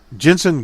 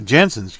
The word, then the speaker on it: Jansen: Jensen got the Jansen, got the save. I don't know why I always call him Jensen. Is it Jensen? No, Jansen.